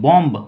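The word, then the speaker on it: bomb: क्या प्रोनाउंस करते हैं बम ब नहीं सिर्फ बोलते हैं हम लोग बम बम बम का मतलब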